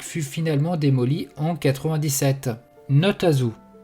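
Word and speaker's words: Nahtazu: Notazo. Prononcé comme Notezo, ou pas un zoo en français, est une expression utilisée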